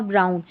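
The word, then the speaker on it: brown: चलिए नेक्स्ट देखें, यहाँ पर टाउन और ब्राउन। ये जो टाउन और ब्राउन में OW है ना, ये आउ पढ़ा जा रहा है, और ये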